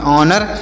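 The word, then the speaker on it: honour: इसे आप याद रखिएगा एच ओ एन ओ यू आर तो इसे क्या पढ़ेंगे एच एच यहां पर साइलेंट है इसे नहीं पढ़ाए पढ़ेंगे तो ओ से पढ़ेंगे औ और यहां पर एन ओ यू से पढ़ेंगे न ड से पढ़ेंगे र तो से पढ़ेंगे ऑनर ऑनर मतलब क्या होता है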